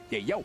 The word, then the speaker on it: Yayo: That is his actual name, and that is how it's going to be pronounced moving forward here in MSC. Yayo.